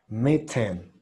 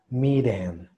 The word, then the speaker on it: mitten: Porque si lo pronuncio como si fuera R, sería miren, miren. Y suena como a la orden, ¿no? De miren, en español, miren. Entonces me gusta a mí decir más mitten, mitten. Pero recuerden que en el inglés se puede pronunciar la T fuerte o débil.